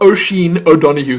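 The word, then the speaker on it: Oisín O'Donoghue: That's Oisin O'Donoghue. That is one name that I do know how to pronounce.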